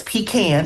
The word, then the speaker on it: pecan: And when they decided to build the I95 through that land, they took our pean orchards and it's pecan.